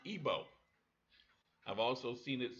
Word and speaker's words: Igbo: Nigeria that being i-g be old but it's pronounced ebo I've also seen it spelled IBO eb o and EB OS but it's all the same people now in Georgia st.